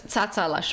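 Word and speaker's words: Tsatsalashvili: super easy to pronounce so first part second part are the same it is satsa and the last part is super easy lashville so it's satsa lash really thank you dirky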